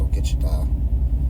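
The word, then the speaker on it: ogichidaa: It's pronounced Ogitchita.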